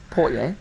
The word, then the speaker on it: Portier: Portier.